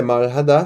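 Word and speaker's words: 말하다: que ele é fraco, porque aqui nesse caso é como se ele não existisse na palavra, né? Maradá, cadê o rã, né? Então, na verdade o que você estaria lendo é maradá, só que o que você fala é maradá.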